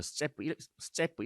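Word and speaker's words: степь: 뭐 러시아식으로 말하면 스제프 이런 식으로 발음을 하는데 아.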